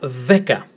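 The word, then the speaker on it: δέκα: And another word, which starts with the, as in then we have e, as in get, k, as in kit, and a, as in tag. So we have the ek-a, veka, the emphasis on the first syllable, veka, veka, which is 10.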